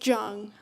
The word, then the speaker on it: Jung: And by the way, it's Jung, like the beginning of jungle.